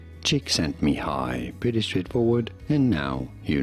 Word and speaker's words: Csíkszentmihályi: Mihály, Csíkszentmihályi. Mihály, Csíkszentmihályi. Cheek, sent, me, high. Mihály, Csíkszentmihályi.